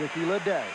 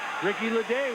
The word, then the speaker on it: Ricky Ledee: And you get to pronounce it, Ray. Ricky Ledee.